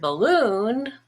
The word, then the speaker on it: balloon: which is olive but in the word balloon the stress is on loon which is blue and bald becomes bull balloon so let's look at